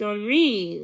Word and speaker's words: Henri: Second of all, it's a name spelled Henri, pronounced Henri, with the accent on the second syllable.